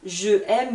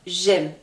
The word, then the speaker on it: j'aime: nous avons une liaison on dit pas jeaime mais j'aime donc ça sera différent